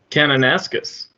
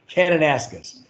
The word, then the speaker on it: Kananaskis: literally climbing new peaks in the mountains of kennis kaskus Alberta and did I pronounce that correct as yet kananaskis and any oh sorry about that kananaskis it's hard to read when you're in a